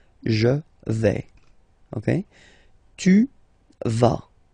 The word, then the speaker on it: vas: Okay, tu vas. Same thing here, final S not pronounced.